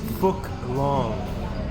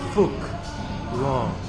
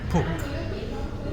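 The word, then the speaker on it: Phúc Long: The pH is actually an F sound in Vietnam. So that is Phu Long. It's not long, but it is Phu Long.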